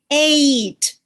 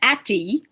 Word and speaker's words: ate: So if we take the word at and we add an E to it, now I pronounce this ate. I do not pronounce that atty. The E at the end is silent, but it changed the sound of the first vowel A to long, from at to A.